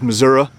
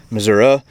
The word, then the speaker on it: Missouri: It says Missouri summer night. The joke there being that in this state there's two different pronunciations. Some people pronounce it Missouri, some people pronounce it Missouri.